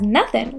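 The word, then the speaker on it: nothin': Let's make sure to pronounce this as nothing without the G to sound more like a native.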